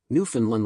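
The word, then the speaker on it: Newfoundland: time at Ken Jennings New Finland rhymes with understand New Finland understand emphasis on land love the show go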